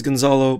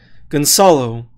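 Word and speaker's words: Gonçalo: Everyone kind of says Gonzalo, but the C is pronounced like soup. So Gonzalo.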